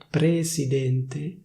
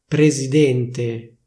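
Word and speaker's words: presidente: presidénte. Ok! presidénte presidénte Or rather, more likely: /prezidénte/, with a voiced Z.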